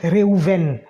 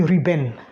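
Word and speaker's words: ראובן: Et c'est ainsi que le premier enfant qu'elle va concevoir s'appelle Réhouven. Bon, en français, on dit Ruben.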